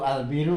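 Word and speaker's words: البِرّ: Kalau al-baru, al-biru kan beda artinya. Dibaca ba, dibaca bi, beda. Al-biru, al-baru beda. Al-baru daratan, al-biru kebaikan. Jadi yang kedua bisa membacanya.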